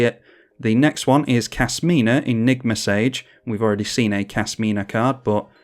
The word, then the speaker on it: Kasmina: I always want to say Kashmina, as in cashmere. Like, she might wear cashmere robes, I don't know, but Kasmina, not Kashmina. Yeah, if I mispronounce it,